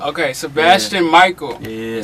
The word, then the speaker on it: Mickael: It's Mickael. Okay, Sebasitan Mickael.